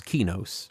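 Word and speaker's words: Qeynos: There are two accepted pronunciations in the community. I choose Kenos uh because that's just my inclination.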